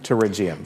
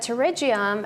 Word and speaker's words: pterygium: the actual name is pterygium pterygium so many people get stumped by that word because it starts with a P but it's pronounced with a T okay it's a really